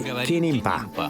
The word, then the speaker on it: kinimpa: We just say kinimpa.